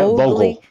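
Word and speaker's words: Vogtle: Am I saying it right? Yeah, Vogel. Vogel. It's Vogel.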